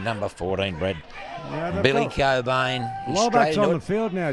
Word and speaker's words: Cobain: I wonder if it's in relation to Matt Cobain, that Wallaby second rower of the early 2000s. Is that actually how you pronounce that yeah, name? it's silent CK, mate.